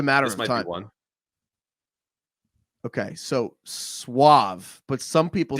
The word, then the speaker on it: suave: that's a bit though it's Suave that's true I mean I think most Americans say sve yeah yeah sve I I would say sve all right last one